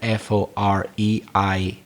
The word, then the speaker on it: foreign: i'm not sure but it sounded like you were pronouncing the g in that word f-o-r-e-i-g-n but you shouldn't pronounce the g so it's foreign and